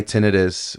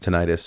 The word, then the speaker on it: tinnitus: No, my my tinnitus, or people pronounce it tonightus, uh has gotten so